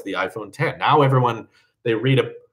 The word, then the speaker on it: iPhone X: I'm not that guy who's like, actually, Apple says it's pronounced iPhone 10, because Apple's wrong about a lot of things.